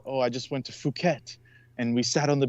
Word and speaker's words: Phuket: Yeah, not to mention that Phuket. Phuket's pronounced fuck it.